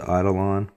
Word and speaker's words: Eidolon: Raven concealment systems holster believe this is pronounced the idolon supposedly this is going